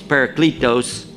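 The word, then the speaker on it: παράκλητος: somebody coming after him the word in the kone greek was paracletos that's the way i pronounce it it's a dead language we don't really know how they said it but it's what it looks like on paper there's a it's a very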